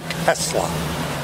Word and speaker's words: Tesla: Nikolai Tesla. And it is just like the car is spelled.